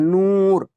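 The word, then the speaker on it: نور: कैसे पता चला, नू के पहले वाव के पहले पेश है और इसको खींच कर पढ़ा जा रहा है, नूर, नूर, नूर पढ़ोगे, नूर नूर नहीं, नहीं पढ़ोगे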